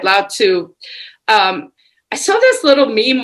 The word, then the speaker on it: Lao Tzu: so it's a Lao, I think you said Lao Chow or something, Chihuahua or something, but you spell it TZU, right? Lao Tzu.